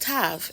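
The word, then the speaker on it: תו: last character on the chart and it is pronounced Tav in the scholarly realm they say it means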